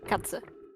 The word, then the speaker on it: Katze: spell it with a Z Yeah. instead of an S. It's K-A-T-Z. Z, yeah. Yeah. Katze.